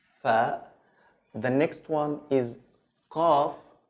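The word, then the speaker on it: قاف: So it's like the K, but you have to also to open your throat a little bit. So it's qaf.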